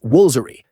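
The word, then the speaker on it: Woolfardisworthy: Other head-scratchers include Us Wolfardesworthy, pronounced Woolsery, Mousehole, pronounced Mosul, and Frome, pronounced Froome.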